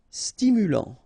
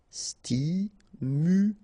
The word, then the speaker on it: stimulant: enterré épais final s not pronounce e together é et ép épais calme final not here stimulant final t not pronounced stimulant stimulant circulaire final pronounce OK circulaire circulaire rasé de près final s not pronounc ok here accent grave est prêt.